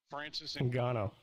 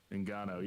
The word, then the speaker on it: Ngannou: Francis Ngannou. Ngannou, yeah.